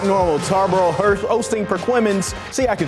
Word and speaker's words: Perquimans: Like normal, Tarboro hosting Perquimans.